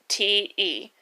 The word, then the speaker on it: Lucente: It was an A. It's not an A. It's a U. It is a U. It's Lucente.